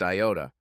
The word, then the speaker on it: iota: Vic laughed and said, dude is the Greek letter iota and is usually pronounced iota.